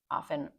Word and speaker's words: often: Okay, it's she often barks. Often or often, however you want to pronounce it is good.